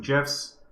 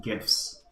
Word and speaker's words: GIF: is the uh I I pronounced it gifs not like Jeff the peanut butter but uh anyways let's